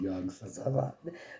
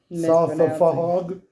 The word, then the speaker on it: Yog-Sothoth: If you remember, one of the entries mentions a connection to a being called Yog-Sothoth. One I kept misspelling. Not mispronouncing. I don't think you wrote it. No, yeah. Sothafog?